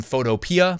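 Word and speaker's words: Photopea: I say it wrong someone said it's photo p and I'm like well I say photo PR but I guess you could be right anyways it's like a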